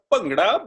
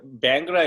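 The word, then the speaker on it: bhangra: what is bangra uh correct pronunciation is pangra but bangra is okay because I know that that sound is missing right um so so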